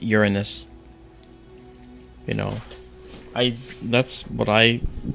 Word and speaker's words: Uranus: No, DK, you don't roll the R. It's just Uranus.